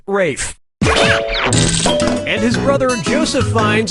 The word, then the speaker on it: Ralph: two yep RAF Fine's first name is spelled like Ralph but pronounced Rafe and his brother Joseph